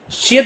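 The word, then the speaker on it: 씨: साथ आता था तो शीन की साउंड देगा। संक्षेद के भी साथ आएगा तो शी की साउंड, यानी शीन की देगा साउंड देगा। तो ये यहाँ पे भी प्रोनाउंस करेंगे शी।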